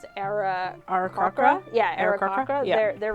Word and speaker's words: Aarakocra: were raised by I never know how to pronounce it. Aarakocra?